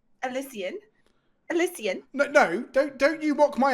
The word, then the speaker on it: Elysian: Excuse me, it's pronounced Elysian. Elysian.